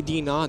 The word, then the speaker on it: DNAW: Do they actually say DNAW or? They say actually DNAW. That's how to say it.